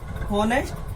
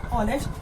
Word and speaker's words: honest: If you punish it in this way, honest, then you use a, but this is wrong. So correct punishment is honest because H is silent.